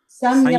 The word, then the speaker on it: samyama: hope it is, the word is samyama. Samyama. Samyama, it is pronounced like that.